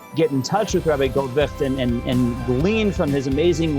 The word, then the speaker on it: Goldwicht: By the way, if you're wondering how it's pronounced, if you didn't know it, that's Goldwicht. That's not witched. Goldwicht, and it's Eitiel.